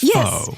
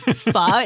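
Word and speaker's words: pho: Well, especially ones that you know imply that f rhymes with show or that it's fo. Yeah. Oh yeah, that is my biggest pet peeve. This fa. It's not faux.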